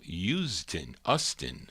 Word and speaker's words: Usdin: Her real name, Carol Usdin, I guess, pronounced U-S-D-I-N.